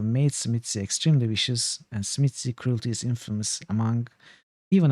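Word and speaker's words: Tzimisce: as well smitsy so everyone pronounces this different i don't know if you ever checked it some pronounce it with chi sounds like chimicha chimichi some say smith i think the creator of the clan and also jason carl both pronounce it smitsy so that is the one i adapted from time immemorial that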